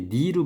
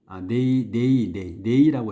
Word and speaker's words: neigh: 이게 니로 발음이 드나? 네이라고 해야 돼. 네이.